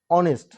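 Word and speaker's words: honest: এবার আসেন অনেস্ট, এইচ যদিও এখানে কনসোনেন্ট, কিন্তু যেহেতু আমরা যখন এটা উচ্চারণ করতে যাচ্ছি শব্দটা অনেস্ট হচ্ছে, অনেস্ট অর্থাৎ ও দিয়া শুরু হচ্ছে, ও দিয়ে শুরু হচ্ছে,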